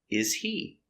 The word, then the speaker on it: is he: Is he? The H is silent. He is not stressed.